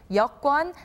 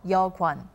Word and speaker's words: 여권: Now, the accurate pronunciation for this is 여권 and not 여권. Don't forget this.